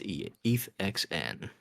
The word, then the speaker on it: ETHXN: No, I will not pronounce it with an A. It's not Ethan, it's ETHXN.